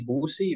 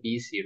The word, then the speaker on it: busy: Some people say boozy, but no, we say busy.